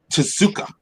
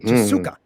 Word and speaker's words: Tezuka: Tezuka. Oh, Mhm. Tezuka.